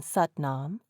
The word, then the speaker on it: Satnam: There is no A after Sat in Satnam.